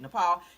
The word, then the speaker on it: Nepal: Okay, that's how you say it, Nepal.